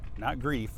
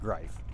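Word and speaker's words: Greif: Not Grief. It's spelled grief, but it's pronounced Grife.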